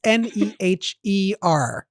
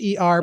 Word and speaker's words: Neher: It's Neher. Yes, and the H is silent. Neher, pronounced near.